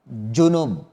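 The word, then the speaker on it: جنب: Ingat bacanya dengan kalimat jim ya. Junub. Bukan dengan zal. Dzunub. Kalau dzunub apa? Dosa. Kalau dengan zal, dzunub itu dosa. Tapi kalau dengan jim, junub, ya hadas besar junub. Makanya sebagian mereka di dalam baca Al-Quran harus bisa membedakan antara zal dengan jim.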